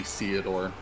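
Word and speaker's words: Ceodore: His name is actually Theodore. Theodore. It's spelled the same as Theodore, but the TH is replaced with a C.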